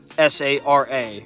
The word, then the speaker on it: Sara: S-A-R-A. Yes, that's how I pronounce the name, Sara. You guys may pronounce her Sarah, but you know, that's how I pronounce it.